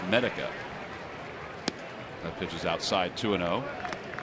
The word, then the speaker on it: Medica: I had said Medica, and I apologize. It's Medica.